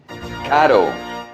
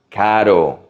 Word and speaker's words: caro: Caro, expensive. Not carro. This is the soft R. Caro, caro. Nueva York es muy caro. New York is very expensive. How about the opposite of caro?